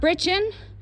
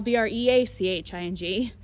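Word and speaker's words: breeching: the hips hold the breaching up this is your breaching b-r-e-e-c-h-i-n-g it is not brichen it is not breaching like a breaching whale b-r-e-a-c-h-i-n-g it is breaching b-r-e-c-h-i-n-g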